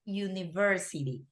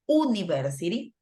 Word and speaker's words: university: for red right ah University because we even thought we have the letter the vowel you we don't pronounce it University that we pronounce it University with a Y like this right University